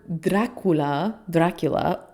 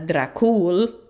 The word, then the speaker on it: Dracul: Okay, so interestingly, in this word Dracula, or sometimes in Romanian pronounced as Dracul, which is actually like sick, Dracul.